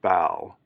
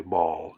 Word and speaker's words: Baal: 2016, Temple of Baal, I've heard it pronounced Baal or Baal, but I'm going to say Baal, just I'm going to stick with that pronunciation. Temple of Baal replica arrives in London just in time for ancient pagan festival.